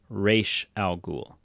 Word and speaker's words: Ra's al Ghul: Oh, But in many iterations of the character, it is pronounced Raish Al Ghul.